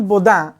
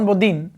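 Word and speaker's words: Bodin: নাই এটা দেখছিলে না ফরাসি দার্শনিক জন বোদা বা ইংলিশে উচ্চারণ জন বদিন সে কইছিলে যে রাষ্ট্র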